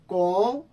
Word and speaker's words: com: Com determinação e esforço, você pode alcançar seus objetivos। com यहां पर एक बात का हमने ख्याल रखना है, ध्यान रखना है, एम नहीं बोलना, एम साइलेंट है।